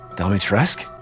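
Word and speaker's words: Dimitrescu: d is on the phone again so um dalmatresk is how you say it um so i ethan said it in the demo i would she not dummy tress domitresk domitresk i'll play it again domi tresk stress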